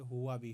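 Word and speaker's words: Huawei: company आपने सुना होगा कुछ लोग इसको हुवाई बोलते हैं लेकिन यह हुआ भी होता है हुआ हुया नहीं है यहां पर देखें हिंदी में यह हुआ व हुआ व हुआ भी और यह भी एक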